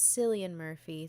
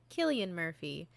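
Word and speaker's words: Cillian Murphy: other great films and see television series we pronounced his name as silly and murphy throughout the whole episode and were posthumously informed that it is not pronounced silly and murphy it is pronounced killian murphy so bear that in mind laugh along with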